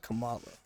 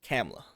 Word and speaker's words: Kamala: and they call her Kamala. nah. They said Kamala, so. At this point, it's anything but Kamala. Yeah, don't say it with the H, the HA at the end, because that's how I thought it was said.